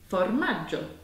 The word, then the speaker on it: formaggio: And we have the sound J at the end, which is spelt G-I-O. So you get the G-I, which means that we get the soft J.